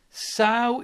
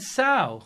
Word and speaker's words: sow: made a donation and said sow is pronounced like so oh my pronounce my hold on you're saying the words sow is there a multiple pronunciation oh I'm pronouncing it wrong so there's I've always said Sal likes out dyskinetic so just content I'm